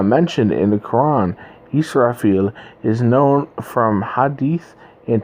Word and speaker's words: Israfil: And right here, we have Israfel, or shall I say Israfil in how they pronounce it in Arabic, in Islam, the archangel who